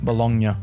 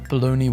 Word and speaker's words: bologna: I used to think this said Bolognia. I did not know bologoney was spelled like this.